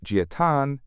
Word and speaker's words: Jia Tan: A GitHub account named Giat75, pronounced Giatan, is created.